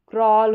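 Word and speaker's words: crawl: अब यहां पर सी आर को क्र ऑल क्रॉल हो गया।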